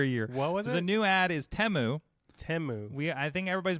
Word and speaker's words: Temu: wrong the entire year the new ad is temu temu we I think everybody's been pronouncing it timu and then we're like we've been saying this